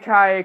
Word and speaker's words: Anki: It's like Enkai. Anki or Enkai. It's pronounced Enkai cars, whatever.